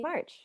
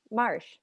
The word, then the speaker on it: Marsh: is megan i played betsy march marsh i should probably pronounce that correctly um all right uh